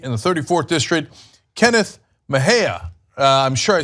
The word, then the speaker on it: Mejia: another California candidate in the 34th District, Kenneth Mejia. I'm sure I said that wrong. So I am the worst with names. Kenneth, how do you say the last name? Kenneth Mejia.